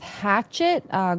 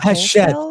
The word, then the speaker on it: Hachette: They partnered with Hatchet, global distribution. It's Hachette. It's pronounced.